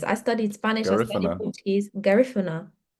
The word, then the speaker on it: Garifuna: Garifuna? Yes. Garifuna. Okay. Garifuna.